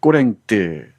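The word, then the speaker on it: Corinthe: 으실르 부부가 운영하는 술집 꼬랭뜨 또는 아지트 얘기가 이어집니다. 꼬랭뜨는 코린토스의 프랑스식 발음이죠.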